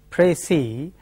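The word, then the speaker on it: précis: is has precis s the final s is silent in French that the convention is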